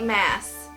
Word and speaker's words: Maas: Maas and or mass you say it like mass because I watched an interview with her on Jessie the readers channel and she said it was mass i believe ya mess